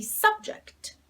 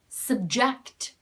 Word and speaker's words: subject: of your sense and then if the stress falls on the second syllable this is reduced and becomes a schwa sound so we say subject subject subject is a